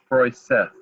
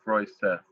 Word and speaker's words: Froseth: So the name is Froseth, right? Forsyth, I mean, there's another name out there spelled a little bit differently, and people pronounce it Forsyth, but it's actually Froseth, F-R-O versus F-O-R.